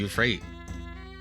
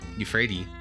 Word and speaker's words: Euphrates: From here, it's easy to perceive the layout of the town of Babylon, built up around the flow of the Euphrate Euphrates.